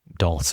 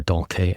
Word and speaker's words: Dulce: First World War entitled Dulce et decorum est or Dulke et decorum est, I suppose we should pronounce the hard C here.